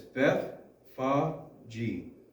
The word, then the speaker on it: Bethphage: Okay, this is one of the hardest names to pronounce in the Bible. It's Bethphage.